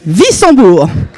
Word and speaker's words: Wissembourg: Notamment cet après-midi, nous sommes allés avec Madame Masson-Delmotte au lycée Stanislas de Wissembourg. Comment ça se prononce ? Wissembourg.